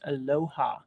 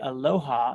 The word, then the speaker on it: Aloha: And by the way, if you guys are looking at that, you're saying, John, you said it wrong. It's Aloha. No, if you say Aloha, then we know you're not from there, right?